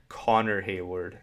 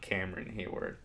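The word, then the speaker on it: Connor Heyward: Connor Hayward, not Cameron Hayward.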